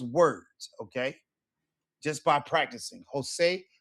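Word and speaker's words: José: J's are always pronounced as English H's. Por ejemplo, Jose, Javier, Jamón, Julio.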